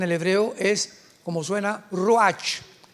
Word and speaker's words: ruach: hebreo es como suena ruach r Raúl u a c h pero la ch en el hebreo se pronuncia como J raj es la palabra para